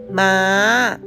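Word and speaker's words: ม้า: with a rising turnone second one horse we say ma ma with a high turn next one dog we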